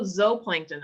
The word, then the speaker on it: zooplankton: then there are also zooplankton i know this looks like zoo but it's pronounced zoe that means animal meaning